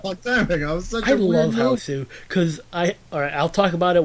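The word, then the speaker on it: Hausu: Well, Houssou is how you say it in Japanese. I say that to differentiate with the 80s movie House. Otherwise, you just say house.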